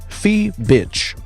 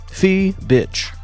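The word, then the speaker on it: Fiebich: I just typed in Google how to pronounce her name, and it said Phoebish. You were right. Fee bitch.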